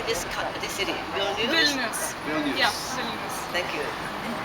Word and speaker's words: Vilnius: Vilnius.